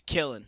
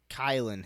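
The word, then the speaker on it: Kylin Hill: wrong last week yeah it's not it's killing it's like kylan kyle and hillary kyle and hill not but how do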